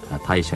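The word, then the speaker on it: 大暑: は大暑、大きな暑さと書きまして大暑と読みますが、一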